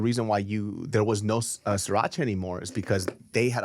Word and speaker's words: Sriracha: How do you pronounce it? Just, Sriracha. Sriracha.